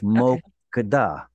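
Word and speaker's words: מוקדה: Be sure never to put the stress on a reduced vowel like a shva. It's mokada, mokada, mokada.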